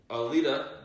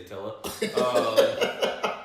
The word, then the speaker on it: Alita: And movies that are actually coming out, Alita Battle Angel, I actually said it right this time, I didn't say Attila, announced that on January